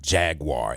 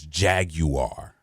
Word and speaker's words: Jaguar: of the sales people it is not Jaguar it is jag you are it's like what is it jag you are the client had just